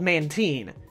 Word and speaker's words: Mantine: feel right at all Mantine Mantine it's called man teen now I feel like